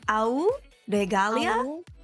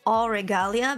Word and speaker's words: Auregalia: long complicated name uh you pronounce it as a regalia but you can also pronounce it as all regalia because the Au is actually gold yeah it's the signs scientific yeah and yeah regalia is like Regal and Leah was almost my name uh when I was